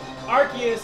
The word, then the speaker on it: Arceus: what will happen cuz a lot of people archus is spelled arus a r c e u s